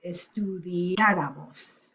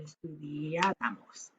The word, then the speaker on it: estudiáramos: And the nosotros form, this one right here, has an accent on the vowel that goes before. So estudiáramos would be the subjunctive, or the accent would go on the A, and estudiáramos.